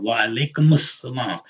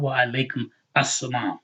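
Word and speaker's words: وعليكم السلام: Wa alaikumus salam. It's not wa alaikum assalam. It's wa alaikumus salam. That dhamma goes over to the seam like that, okay?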